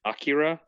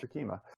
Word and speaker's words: Akima: Is it Akira? Yeah, or Akima. Akima. That's it. It's like been Akira, too long. but it's Akima.